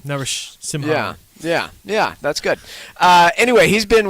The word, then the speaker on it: Narasimhan: Laxman Narasimhan. You saw that one coming. Not bad. I think you're missing a syllable there, but that was not too bad. Narasimhan.